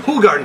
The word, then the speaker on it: Hoegaarden: Hoegaarden, that's how you pronounce it.